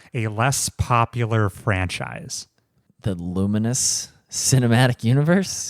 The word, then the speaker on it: Lumines: Luminous. It's not spelled right. Just don't ignore that's how it's pronounced.